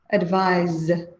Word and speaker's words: advise: So you can hear the difference in pronunciation. Advice, advise.